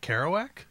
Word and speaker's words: Kerouac: the road again jake jack kerouac uh that's how you pronounce that yeah i don't i